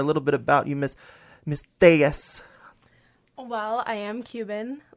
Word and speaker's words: Tellez: Tellez. All right. Tell the crew a little bit about yourself, the listeners out there, a little bit about you, Miss Tellez.